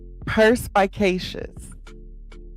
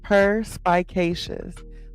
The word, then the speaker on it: perspicacious: Perspicacious. Perspicacious. It's a fun word, right? Perspicacious. So per like a cat, per. Spy, like, little snitch, spy.